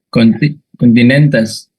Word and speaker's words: continentes: Sí, continentes. Correcto. Sería continentes, ¿verdad? Continentes. Miramos la penúltima. Ajá. Oh, la penúltima tiene una consonante. Entonces, si tiene una consonante, el acento se queda ahí.